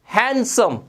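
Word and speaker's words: handsome: ये हैंडसम नहीं होता, ये हैंड और सम नहीं होता, इसमें डी साइलेंट होता है, ये पढ़ा जाता है हैंडसम, हैंडसम, हैंडसम।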